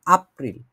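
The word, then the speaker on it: April: মে arts March তারপরে এপ্রিল হচ্ছে এপ্রিলের মতই আপ্রিল বলে এটাকে কারণ জার্মান ভাষায় একে কি বলে আমরা আব্দু করি না তাহলে কি এপ্রিল হবে এপ্রিল হবে না এটা আপ্রিল ঠিক আছে এটা আমি শুধুমাত্র আপনাদের বোঝার কারণে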